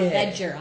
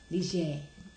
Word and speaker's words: Ligier: Yes, which I've always See thought now it was that called we know Hotel Leger. Hotel Ligier, Or Ledger. I right? had no idea it was Hotel Ligier. Now we're pronouncing it correctly.